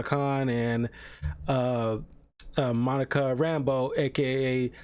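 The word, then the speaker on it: Rambeau: whose last name is Rambo not spelled the same way but pronounced the same way way it's like called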